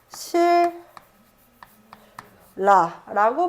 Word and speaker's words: 신라: 줘야 돼라는 이야기인 거야 자 신라 뒷말에 있는 초성 자리의 유음 리을이 자리에 있는 니의 영향을 미치게 되면서 발음은 실 라라고 발음을 하는 것이고요 자 그리고 칼날 처음